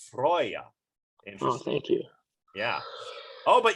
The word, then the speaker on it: Freyja: of war though oh freya is a healing infertility and it's actually pronounced freyja thank you yeah oh